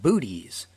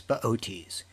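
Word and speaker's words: Boötes: the lap of baotis if you saw his name spelled out you'd want to pronounce it booties but it's beauties he's got a big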